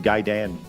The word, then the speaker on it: Gaiden: I can't move forward with him talking and saying Ninja Gaiden. That's not. That's how it's appropriately pronounced.